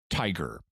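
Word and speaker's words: TIGHAR: for historical aircraft recovery TI ghar pronounced tiger tiger' has been investigating the Chamorro for years and they've sent like 10 expeditions there George Putnam jr.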